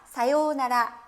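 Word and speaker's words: さようなら: 사요나라 김진아 봐요 나라 자 사요 우 나라라고 굳이 발음 안하시고 한박자 길게 중간에 빼줍니다 사요나라 라고 이야기를 하는데요 자 그런데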